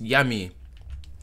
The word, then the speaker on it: Jami: yeah yeah oh you guys don't say jamm it's hot yumas yummy that's how he say his name yummy ahum